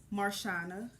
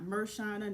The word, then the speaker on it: Marshauiona: My name is pronounced Marshana, not Mershana, not Marshayona, not Marshawana. Marshana is just that simple, real easy.